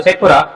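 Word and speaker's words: שייח'פורה: जनसंख्या यानी पॉपुलेशन की दृष्टि से अगर देखा जाए तो बिहार का सबसे छोटा जिला तो बोलेंगे शेखपुर, शेखपुरा नाम है बेटा, शेखपुरा।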